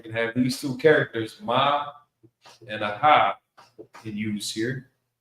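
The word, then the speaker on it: מה: So I pronounce it ma. It's not going to be a maha because you normally especially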